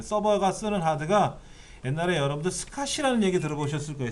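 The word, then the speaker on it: SCSI: 스카시라고 읽고요. 이건 사스라고 읽어드리는데 이런 하드를 달면은 어마어마하게 빠르죠.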